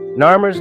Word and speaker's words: Narmer: both Concepts and sounds nur's name consists of two such symbols a catfish pronounced Nar and a chisel pronounced my these two signs are